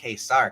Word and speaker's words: Ka-Zar: the coming of K I'm not pronouncing the way they pronounce Kar I'm pronouncing it the way it should be I hey I'll read it this Kar because that's the correct way because I'm Sig lips